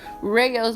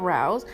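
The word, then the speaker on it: Rao's: We got some Rayo's marinara sauce, and apparently that is how you pronounce it, not Rouse.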